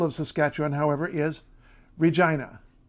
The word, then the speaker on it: Regina: city the capital of catch on however is Regina Regina not Regina nothing like that Regina also want